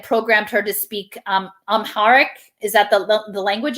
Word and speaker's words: Amharic: language they had programmed her to speak um amharic is that the the language of ethiopia i'm not sure if i'm pronouncing it correctly it is i'm hard yes